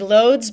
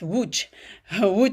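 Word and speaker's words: Łódź: Um Matteo invited me for it's in it looks like Loads, but it's pronounced Wu Woo Poland.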